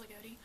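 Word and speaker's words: Loogootee: the way home because we were driving through Lagodi, which is spelled L-O-O-G-O-O-T-E. Don't ask me why it's pronounced Lagodi.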